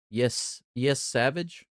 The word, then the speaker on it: Yesavage: Trey Yesavage. Is that how you say his name? Yes, Savage.